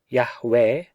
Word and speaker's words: Yahweh: The divine name Yod He Waw He, the proper pronunciation of which seems to be Yahweh, owing to his utterance